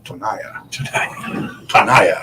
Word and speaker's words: Tonaya: It is now Tonaya. Tonaya. Rhymes with Shania.